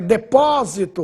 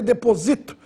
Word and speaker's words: depósito: adiante a próxima é depósito outra palavra importante agudo no o para você não ler deposito deposito é o verba seria paroxitono proparoxitono substantivo interessante a próxima